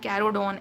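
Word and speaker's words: Carcharodon: फिर कैरोडोन, इसका नाम ही बहुत बड़ा सा है और थोड़ा अजीब सा है, इसको आप प्रोनाउंस करते हो जब कैरोडोन ऐसे करके।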